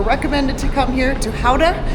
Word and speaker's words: Gouda: So our first stop, we were recommended to come here to Howa, which Americans pronounced as Gouda because it is known for Gouda cheese.